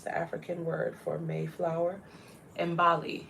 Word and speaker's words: Imbali: Can you pronounce the African word for Mayflower? Imbali. It's the Zulu word for a flower. Imbali.